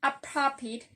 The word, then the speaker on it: appropriate: For example, the word appropriate as an adjective have the stress in the first syllable, and the last sound is the short E. And as a verb, appropriate have the stress in the first syllable, but the last vowel sound change.